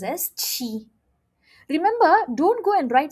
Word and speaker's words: qi: Try to remember number 7 in Chinese. 7 is chi. So QI is pronounced as chi.